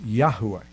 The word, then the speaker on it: Yahweh: read his name is yahweh you need to now a better pronunciation of the name of god is yahuwah so when i refer